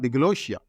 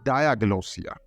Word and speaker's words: diglossia: know that it's not deloia the word is actually diosa dagia is clear the the stress is going to the first part Dia Diaga so uh